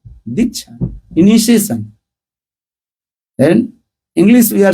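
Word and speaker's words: दीक्षा: Di means there are two syllables there. Two letters. Di and Cha.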